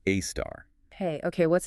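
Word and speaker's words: A*: A search pronounced AAR.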